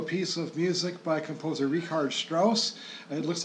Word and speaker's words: Richard Strauss: of music by composer rard Strauss it looks like Richard it's rard Strauss is the correct German pronunciation and it's called an